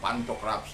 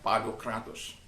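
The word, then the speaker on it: Pantokrator: Kalau dalam bahasa orang bilang Pantokratos, tapi dalam pronunciasinya Padokratos.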